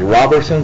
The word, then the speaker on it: Robertson: Robinson Pastor Robinson 224 Lincoln Street say you pronounced that as Robertson Robertson r o b r s o n